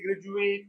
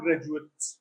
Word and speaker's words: graduate: noun they use a if it is graduate as a verb as adjective again they say graduate no as adjective and noun graduate he is a high school graduate not graduate as a verb graduate and as noun and adjective graduate as a verb separate